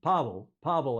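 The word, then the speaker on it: Paweł: Pavel, I think you pronounce that with a W.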